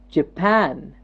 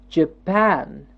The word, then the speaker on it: Japan: while listening to me what part of the word is jumping up okay let's see I